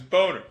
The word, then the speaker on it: Boehner: know they changed it the reality is course the name as Jesus points out every time is boner your comment would have